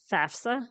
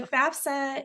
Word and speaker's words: FAFSA: with circling back to FAFSA is that how you say it FAFSA yeah lots of confusion around